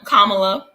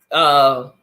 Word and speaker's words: Kamala: share some heat with, pronounced her name Kamala. Kamala. Most of the time it was Kamala. It was like Camille, like Kamala.